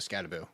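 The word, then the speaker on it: Skattebo: potential long-term value of Scataboo. So, that's I want to get both of you guys unless he comes out and tells everybody we're saying it wrong. It's got a boo, not bow.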